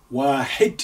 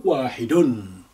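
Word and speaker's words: واحد: The bracket you have here with the green ink is to say you may pronounce the ending that way, or you can just say wahid, for instance, or wahidun.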